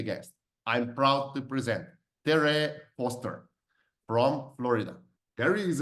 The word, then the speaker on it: Tere: Well, let me just say right away, my name is Tere, so it kind of rhymes with hooray.